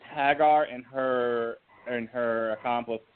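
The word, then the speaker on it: Haggar: got chosen hang on hang on let me pronounce it for you it's Hagar and her and her accomplice oh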